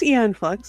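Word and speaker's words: Aeon Flux: That's just makes me think of different Have I been mispronouncing films my entire life? No, it's Eon Flux.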